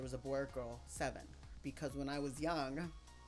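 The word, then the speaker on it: Sevn: letter s e VN which is pronounced seven SBN 7 this is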